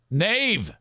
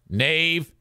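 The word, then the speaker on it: knave: another English word that the K is silent before an N Nave I think that's what you're looking for I'm pretty sure K na a v Nave knife um so c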